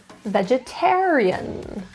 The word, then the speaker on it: vegetarian: Stress is in the third syllable, vegetarian.